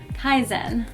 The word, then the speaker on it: KIZEN: worlds our names and so that's how we pronounce our name Kaizen so Kaizen is a musical collaboration between us and we're